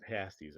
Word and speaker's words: pasties: So they're pronounced pasties, I believe.